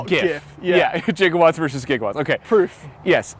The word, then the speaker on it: gigawatts: 1.21 gigawatts of electricity, yes. So with a soft G in the film.